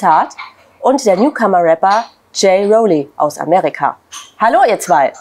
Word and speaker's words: J-Rollie: auch sprechen sehr gut und Jay Roli ist auch richtig ausgesprochen das ist korrekt sehr gut aber jetzt